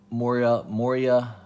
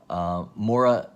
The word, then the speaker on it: Moira: It's being considered a key because it reveals Moria. I pronounced her name wrong. It's Saturday morning and early, and I've only had 1 cup of coffee, so that's a good reason to claim Moira McTaggart, right?